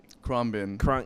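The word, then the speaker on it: Khruangbin: do you spell it oh you say it krom bin it's wow yeah what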